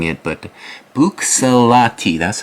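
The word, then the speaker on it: Buccellati: I need to get better at pronouncing it, but Bucsalati, that's how I would say it. Bucciolati.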